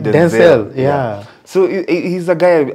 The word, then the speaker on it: Denzel: And I saw a video the other day where he was saying his name is actually pronounced Denzel. Oh, Denzel. Oh, Denzel. But along the way, it just became Denzel.